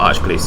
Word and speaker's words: Arch-Glacor: to get everyone to pronounce the c as a soft c instead of a heart c which never ever happens when the c means yeah before the letter o and the worst